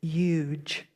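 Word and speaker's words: yuj: It's pronounced huge, like huge, but remove the H if you would, huge.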